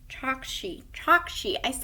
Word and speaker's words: Chokshi: Chokshi. I always say their name wrong.